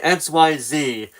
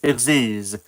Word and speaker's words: Xyz: is how you pronounced I used to say XYZ kind of like XYZ Dragon Cannon but no it's pronounced EX in this situation it's still XYZ Dragon